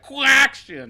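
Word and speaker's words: Quacktion: Yeah, and you have to say it like Quack-tion.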